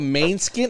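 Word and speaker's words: Måneskin: oh I blew it the group is called main skin I think that's how you pronounce it cuz it's got that little weird symbol above the a an Italian rock band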